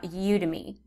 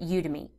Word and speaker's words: Udemy: market your course for you you can try udemy however some people pronounce this udemy some people pronounce it I pronounce it udemy now you to me will actually market your